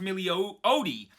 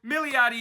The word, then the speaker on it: Milioti: exist on YouTube, and all of those said it was pronounced Milioti, which, I mean, that's how it looks phonetically, but that's how I said it last week, and it's completely wrong. So, Milioti it is.